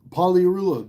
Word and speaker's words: Pagliarulo: Pagliarulo, the G is silent, dude.